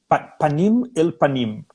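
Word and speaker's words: פנים אל פנים: Panim el panim. Em hebraico, Sim. panim el panim. Panim se escreve com 4 letras, né?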